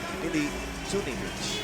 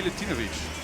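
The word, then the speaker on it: Milutinović: That last bucket courtesy of Ili Tunivic. There you go. Come on, Boz, get your pronunciations right. What's wrong with you? Milutinovic.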